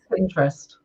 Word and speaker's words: Pinterest: Yeah, it's lots of people add that extra kind of I, but it's actually just Pinterest.